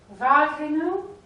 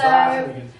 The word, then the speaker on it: Wageningen: this year I'm playing in how do I pronounce it? Wageningen? Wageningen. Yeah, yeah, close. Almost ready. Yeah. Almost close, yes. Almost Yeah. ready. So Wageningen.